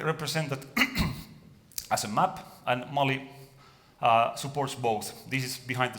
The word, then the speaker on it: Malli: what came out is Molly and Phoenix is like a nice language because you write things as you pronounce them so it is modeling